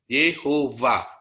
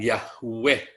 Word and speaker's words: Yehova: W tetapi Anda taruh bibirnya di bawah gigi va. Yehova. Itu yang benar cara membacanya. Bukan Yahweh. bukan Yahweh.